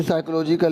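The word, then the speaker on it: psychological: ये साइकोलॉजिकल लिखा है, ठीक है, इसमें पी साइलेंट होता है डियर स्टूडेंट्स।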